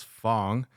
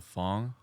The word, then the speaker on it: Phong: Yep. So the correct pronunciation for